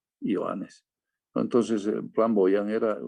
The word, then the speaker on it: Johannes: Johannes, no se dice Juanes, Johannes.